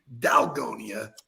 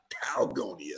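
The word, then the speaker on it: dalgona: hell's going on that word should be dalgonia not talgonia so this is definitely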